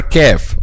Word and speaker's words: ك: Letter qaf is the heavy version of the letter kaf. So letter qaf and letter kaf, both of them are pronounced using the back part of the tongue or the deepest part of the tongue, okay? But al-qaf is deeper than al-kaf. Aq deeper is al-qaf, and then al-kaf ak.